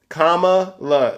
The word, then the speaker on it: Kamala: shoved down your throat I thought it was Kamala or vice president Harris I mean don't you think it's important for people to put a little respect on their names how you say it comma La they're putting it in the chat and I